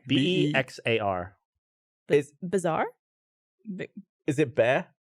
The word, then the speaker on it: Bexar: is it Bear? It's Bear, Bear. What? not Bexar. Was what I used to say. Bex, the county. The X is silent. The silent X. Bear County. BEXAR. Bear.